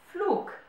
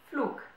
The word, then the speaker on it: Flug: Der Flug, the flight. Der Flug. You might notice that I'm not saying der Flug, but I'm saying der Flug, as if there was a K at the end of a word.